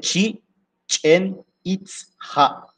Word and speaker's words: Chichen Itzá: que ça veut dire chenita Ça à il faut bien prononcer c'est chien it ha la bouche dansénote des sorcières de l'eau qui date de 9e siècle.